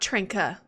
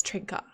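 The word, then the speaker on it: trinken: um syllables like that gotta pronounce the e's at the ends of as uh like trinka oh really so ich trinka like that I'm gonna write that down it's not trenka it's trinka SI tan what's 10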